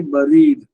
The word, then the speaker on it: bury: இந்த BURY வந்து இங்கிலீஷ்ல வந்து நம்ம எப்பவுமே BURனா பர்ன்னு சொல்லுவோம். ஆனா பிரெஞ்சு இந்த இங்கிலீஷ்ல வந்து பெரின்னு சொல்லுவோம். BERRY எப்படி பெரி ஸ்ட்ராபெரின்னு சொல்லுவோமோ அது மாதிரிதான் பரியோட உச்சரிப்பு இருக்கு.